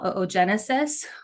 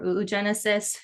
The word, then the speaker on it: oogenesis: phases of egg development which we call oogenesis or oogenesis different people pronounce it different ways tomato but there's this